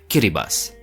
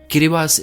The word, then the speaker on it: Kiribati: likely pronounced it wrong, Kiribati. Yes, the TI at the end is pronounced as an S. Kiribati is the local rendition of Gilbert.